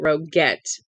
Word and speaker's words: Rogette: Whitmore is her name he pronounced it rogette with a hard G divorc wives are all